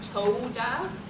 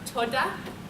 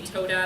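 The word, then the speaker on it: תודה: So again, it's Americans, the O sound isn't quite a long O, it's not toda, it's more toda. It's like a lighter sound kind of, but if you say toda, that's fine too.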